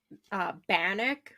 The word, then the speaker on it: Bannack: So the first one I have is Bannock, Montana. Oh, it's in So Montana. Okay. yeah, it's spelled Bannack, but it's like Bannock, the like First Nations or Indigenous like bread kind of biscuit Right.